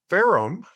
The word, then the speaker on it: Ferrum: He is Chief Commercial Officer of Ferrum. Did I pronounce that correct?